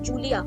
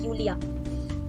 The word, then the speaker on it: Julia: In English we pronounce it as Julia, but in German we call it as Julia.